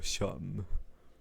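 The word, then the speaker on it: Seam: Mi nombre es Sham, pronunciado Sham.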